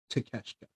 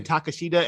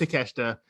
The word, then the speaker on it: Takeshita: we got Jon Moxley versus how do you pronounce his name? As Konosuke Takeshita. Takeshita. In my mind, I want to say Takashita every time I see his damn name. I know it's not. I know it's Takeshita.